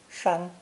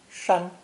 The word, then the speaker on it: 山: Another easy-to-understand pictogram is the character for mountain, pronounced first tone, 山, 山.